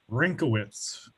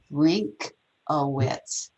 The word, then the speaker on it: Rinkowitz: And how do we pronounce last name? Rinkowitz. Rinkowitz. Yep. Okay. Not as complicated as it looks.